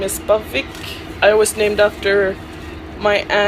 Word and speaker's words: Aviaq: Well, it's supposed to be pronounced Aviaq because it's a Greenlandic name that means same blood or runs in the family.